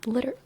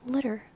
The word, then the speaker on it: litter: r liter um whereas litter that's actually a perfect example because 2ts signals that it's pronounced litter instead of liter litter litter um yeah